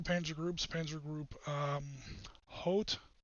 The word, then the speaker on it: Hoth: In the Center Army Group, we had 2 Panzer groups, Panzer Group Hoth, H-O-T-H, it's not pronounced Hoth like the Star Wars planet, Panzergruppe Hoth and Panzergruppe Guderian.